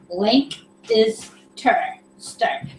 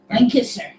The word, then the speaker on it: Lancaster: Okay, Tim says, it's kind of like Lank is stir. So Lank is stir, but say it fast. Lancaster. Lancaster.